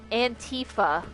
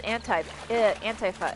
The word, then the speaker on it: Antifa: Also they always pronounce it Antifa like it's a fucking video game character. I'm like, it's Antifa. It stands for anti-fascist.